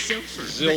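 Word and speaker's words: Zylpher: tell you my real name my name is ziler but nobody can remember it so why he call me we spell that z y l p h e r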